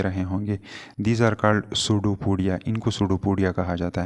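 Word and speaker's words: pseudopodia: होंगे these are called सूडो पडिया इनको सूडो पड़िया कहा जाता है सूडो पोडिया यहां पे यह स्टार्ट में पी साइलेंट है अच्छा तो इसके इर्दगिर्द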